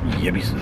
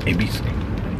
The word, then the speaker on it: Yebisu: Yebisu, that's actually pronounced Ebisu, isn't it?